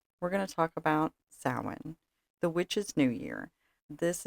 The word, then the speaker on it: Samhain: So, so sin. Now, I personally pronounce it sin. Some people pronounce it sin or even Sam Hayne.